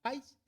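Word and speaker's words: παῖς: La palabra que se traduce aquí como disciplina es la palabra paideia, y pais, que es niño, así como país, pero con el acento en la pais, niño.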